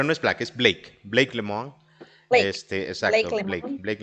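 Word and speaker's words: Lemoine: mencionabas hace ratito a Black, no, pero no es Black, es Blake Lemon. Blake. Blake Exacto, Lemon. Blake Lemon, Lemont. que tiene un apellido medio difícil de pronunciar para nosotros.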